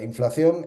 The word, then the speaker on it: inflación: Eh, yo a mis alumnos siempre les decía, inflación es esa palabra que se escribe con una C y que la mayor parte de los españoles pronuncian con dos C.